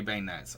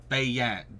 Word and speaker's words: beignets: Am I saying it right? Again, I want to go back and see how it's pronounced. Where was it? Someone pronounced it and I can't remember where it was. Beignets.